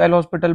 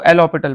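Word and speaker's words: L'Hôpital: एलो होपिटल ठीक है कई लोग इसको एल हॉस्पिटल बोलते हैं तो सबसे पहले आपको यह समझना पड़ेगा कि एच यहां पर साइलेंट है एस भी साइलेंट है तो इसको एल ऑ पिटल बोलते हैं राइट तो एल ऑ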